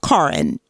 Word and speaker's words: Karen: later food historian uh it's Karin it's spelled Karen but she says Karin hess uh rediscovered the